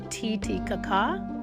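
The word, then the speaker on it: Titicaca: We're talking about Lake Tittikaka. And no, it's not what you're thinking. We're not making fun of anything. It's pronounced tit kaka.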